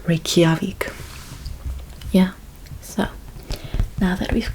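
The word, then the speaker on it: Reykjavík: The correct pronunciation for the capital of Iceland is Reykjavik. Reykjavik.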